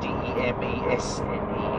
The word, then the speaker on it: demesne: You see, so he went down into the castle grounds, or the demesne, as the old Irish word is. It's spelled D-E-M-E-S-N-E, demesne, means the castle grounds.